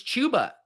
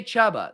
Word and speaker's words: Chuba: it's not it's it's chuba everyone we've already done this i used to say chaba then i was told it's chuba now you're saying it's chubba i can't keep up